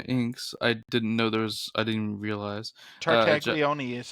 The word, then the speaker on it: Tartaglione: Tartaglione is how that's Tartaglione, pronounced.